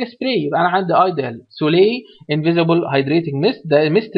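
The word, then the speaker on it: Soleil: ايديال سولي وده النطق بتاعها يا جماعه، سولي مش سوليل، اسمها ايديال سولي.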